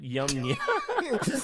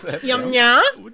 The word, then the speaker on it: Yamnaya: Okay, so the Yamnaya people, not Yamnya, Yum nya.